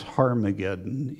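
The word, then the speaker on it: Ἁρμαγεδών: it that in Greek there's a diacritical Mark that indicates rough breathing so it's harmageddon in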